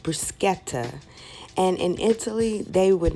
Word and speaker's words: bruschetta: favorite favorite things to eat and that is Bush Etta actually it is pronounced bruschetta and in Italy they would not consider this